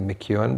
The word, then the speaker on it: McEown: That's how you pronounce the spelling of McEwan, but it's a stranger spelling.